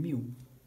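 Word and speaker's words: μ: And you pronounce it by saying mu.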